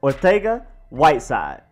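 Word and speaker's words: Arcega-Whiteside: what the JJ is it is josé joaquín Ortega Whiteside it's like a Spain type of Spanish not Western world Spanish is literally Spain Spanish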